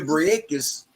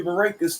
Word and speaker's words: Brækhus: First off, Cecilia Brækhus was making that money.